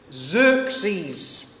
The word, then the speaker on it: Xerxes: Xerxes.